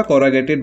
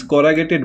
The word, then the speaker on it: corrugated: Okay, मैं अभी discuss करूंगा कॉरोगेटेड बल्कहेड। ठीक है, व्हाट इज कॉरोगेटेड बल्कहेड, इसको आप कॉरोगेटेड या कॉरुगेटेड कुछ भी कह सकते हैं, इसका बस प्रोनाउंसिएशन या